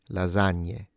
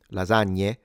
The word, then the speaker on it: lasagna: It is more correct to say lasagna but a lot of Italians say lasagna. When it comes to the GN, depending on the region, it might sound stronger or lighter.